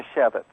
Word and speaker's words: Manischewitz: How do you pronounce that? That would be Manischewitz.